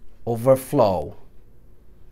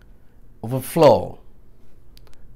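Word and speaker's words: overflow: और अगर ये वर्ब होगा तो वर्ब में भी सेकंड पे स्ट्रेस आएगा, ओवरफ्लो, ओवर ईट, ओवरफ्लो, ओवर स्पीड, तो सेकंड पे आएगा वर्ब होगा.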